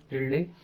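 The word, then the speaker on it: tilde: जो ये आप सिंबल यहाँ पे देख रहे हो, इसका जो प्रोनाउंसिएशन होता है दैट इज टिल्डे।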